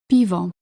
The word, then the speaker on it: piwo: For example, bank, bilet, park, piwo. This softening occurs whenever a consonant is followed by the letter I.